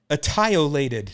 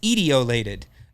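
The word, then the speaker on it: etiolated: that the lawn looked attiolated now i'm pronouncing it wrong on purpose it's e-t-i-o-l-a-t-e-d it's ideolated the lawn looked ideolated and i'd never heard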